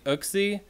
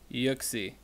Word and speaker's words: Uxie: do we have here does that say oak see ya I think that says yuxi so yuck see how it's pronounced was why you give